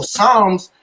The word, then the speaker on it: Psalms: spell you feel me so Psalms got to do with Palms if you take that out there it really ain't saying Psalms that P is there so that p is silent that that's what put